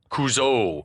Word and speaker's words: Couzo: as coach and then he pronounces it kuzo and it was at this moment that we realized that the decision had been made at some point to Accent the final vowel kuzo kuzo at least